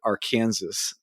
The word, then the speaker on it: Arkansas: in Kansas it's spelled Arkansas but you you pronounce it Aransas well that's how they weed you out that's